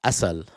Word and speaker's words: Assal: And uh Assal Rad, Assal, sorry, uh shouldn't pronounce it the Arab way.